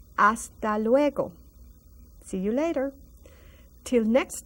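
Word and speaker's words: hasta luego: practice of our greetings see you later aalo that age is silent say it with me aalo see you later till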